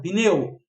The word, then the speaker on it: pneu: Tu vai considerar o p. Por que o p? Porque olha só, se o p fosse som de pi sempre, quando tu fosse para a praia, vocês iriam piar a praia. Por quê? Porque o p é ter som de i. Então, aquele i é acrescentado contextualmente, especificamente na palavra pneu, tá?